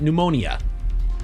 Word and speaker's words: pneumonia: The P is silent.